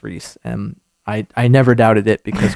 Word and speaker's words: Rhys: Reese, I'm pretty sure it's Reese. Reese, it's spelled so incredibly That's hard. how you spell Reese.